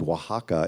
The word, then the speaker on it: Oaxaca: we kind of randomly chose this town um pronounced Oaxaca in the south of Mexico and I thought